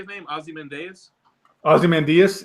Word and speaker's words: Ozymandias: say named Ozzie Mendes Ozymandias yeah Ozymandias like Diaz yeah anyway so in